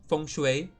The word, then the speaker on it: Feng Shui: I only know that the Feng Shui is actually supposed to be pronounced Feng Shui. Like the ENG is Ong sound.